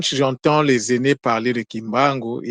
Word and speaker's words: Kimbangu: Lorsqu'il y a un N devant une consonne, le N se prononce pas.